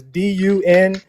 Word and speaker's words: Dunkerque: It's not spelled Dunkirk like Kirk. It's Dunkerque.